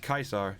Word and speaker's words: Caesar: But yeah, Kaisar. Yeah, that's how you pronounce his name. Julius Caesar. It's proper Latin, bruv.